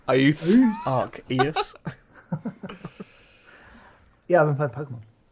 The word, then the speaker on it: Arceus: I believe the C is silent. It's Arceus. Arceus.